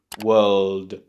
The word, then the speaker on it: world: And then you just have to add a very soft D on the end, right? You don't have to say duh. It doesn't have to be really strong, just like a little tap. You can kind of make this by your tongue going up to the top of your mouth and then just dropping down. But make sure you have some tension there so it makes the D sound.